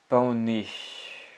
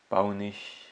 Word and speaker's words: paonner: Le verbe paonner. Paonner. Paonner, je pense. Paonner. Le prononcer comme un paon. Comme un paon, l'oiseau.